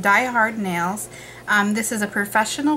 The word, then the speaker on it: DIY Hard Nails: DIY hard nails with they're pronounced Die Hard Nails um this is a